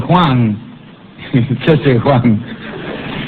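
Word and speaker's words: khwan: que creían que en la cabeza recibía el Juan, Juan. Esto se escribe K h U, que era el espíritu guardián.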